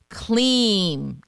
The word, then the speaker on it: Kleem: It's a single word, Kleem, K-L-I-M, pronounced K-L-E-E-M.